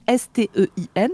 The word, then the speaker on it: Stein: Et ça se prononce Stein en allemand.